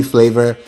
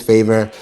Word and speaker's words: Favour: My name is Favor. And I remember telling somebody that and they're like, "Why do you add an extra L?" And the it's it's favor. And then it's spelled British, not American.